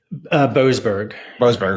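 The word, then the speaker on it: Boasberg: What was judges, I want to make sure I'm pronouncing his name correctly, is it Borsberg? Boberg.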